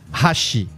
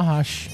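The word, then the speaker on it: 箸: Ah, hashi. Minha avó fala hashi. Mas hashi. Não é hashi. Porque não tem sílaba tônica também no japonês. Todas as sílabas são átonas.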